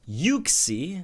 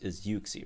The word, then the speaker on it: Uxie: Anyway, so this set of Legendary Gauntlet units we're going to be facing are Entei, Uxie, as it's pronounced, I think, which sounds weird, but you know.